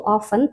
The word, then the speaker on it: often: Nah, kemudian intinya di situ kalau dari kata-kata yang digarisbawahi ya, Jadi di situ ada kata often, tulisannya often tapi dibacanya tuh often, T-nya tuh kayak hilang teman-teman, makanya kadang-kadang untuk yang